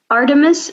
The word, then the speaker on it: Artemis: our 10 minutes program i'm even afraid to pronounce it wrong yeah so artemis um is the name of it um and